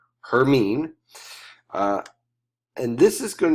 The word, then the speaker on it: Hermine: It is pronounced Hermine.